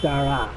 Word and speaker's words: Dara: It's not Derek, it's Dara.